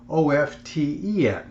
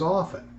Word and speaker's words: often: One is often, emphasizing the T, and the other is often. The correct way is often with the T being silent.